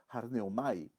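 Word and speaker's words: ἀρνέομαι: C'est prononcé arneomai.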